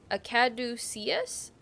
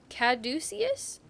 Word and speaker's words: caduceus: actually a a caddo akaducius caduceus caduceus so that's how you say this stuff caduceus caduceus i'm wrong